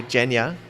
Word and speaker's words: Evgeniya: We're here in Bangkok, Thailand, and I get a cool chance to interview Evgeniya.